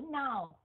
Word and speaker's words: know: Ok rồi, bây giờ cái chữ nhớ nhầm, cái chữ now, không có chữ K đó thì đọc là now, còn có chữ K thì đọc là no.